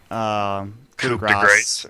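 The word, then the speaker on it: coup de grâce: It's actually, it's pronounced coup de grace.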